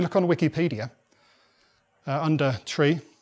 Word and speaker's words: trie: the reason is that it's actually actually comes from the middle of the word retrieve or retrieval in fact if we look on Wikipedia uh under tree says that trees were